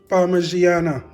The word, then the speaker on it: Parmigiana: In this video today, we're going to be making some nice and tasty Italian Parmesan, eggplant Parmesan guys, or Parmigiana as some people may pronounce it.